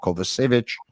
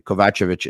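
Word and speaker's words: Kovacevic: his name correctly everyone who pronounces his name kovich is actually pronouncing it incorrectly kovachevich is the right pronunciation thank you very much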